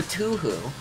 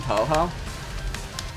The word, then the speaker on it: Touhou: tohoka actually i'm curious is it touhou or tuhu because i feel like i've heard both around a lot what is what is like generally agreed upon to be like the actual pronunciation no idea first one toho so it is touhou got it okay see